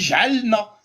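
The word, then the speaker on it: جعلنا: Le lam, il y a un soukoun au-dessus. Exactement. Donc tu Il est prononces muet. pas. Mm. Tu prononces pas, il est muet, tu dis j'alna. Il n'y a pas de voyelle. Donc c'est j'alna.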